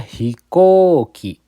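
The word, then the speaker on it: ひこうき: Tapi di sini dibacanya hikoki bukan hikoi bukan hikouki tapi hikoki.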